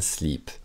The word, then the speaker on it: slip: Parce qu'on dirait un slip. Ouh. Voilà, donc c'est même prononciation que live. Slip, c'est un i court.